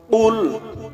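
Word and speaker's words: قُلْ: রাজিম বিসমিল্লাহির রাহমানির রাহিম কুল হুয়াল্লাহু আহাদ কুল হু আল্লাহু আহাদ কফ লাম পেশ কুল কফ লাম পেশ কুল কফ গলার ভিতর থেকে কফ গলার ভিতর থেকে উচ্চারণ হবে একটা হলো কফ আরেকটা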